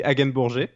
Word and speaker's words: Hagenbourger: would be great yeah the french pronunciation is actually again bourgeois uh i wouldn't have